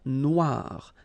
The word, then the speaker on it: Noire: Okay, then here, la mer Noire. Same thing here that we had previously. Final not pronounced, okay? And then OI, remember, wa, noir, noir.